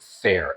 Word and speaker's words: Faire: There's a company called, I believe you pronounce it FAIRE, F-A-I-R-E.